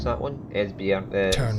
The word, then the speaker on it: Esbjerg: You don't pronounce the G in it.